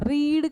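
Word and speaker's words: read: रीड का pronunciation past में रेड होता है। हां। बट स्पेलिंग रीड वाली ही रहती है।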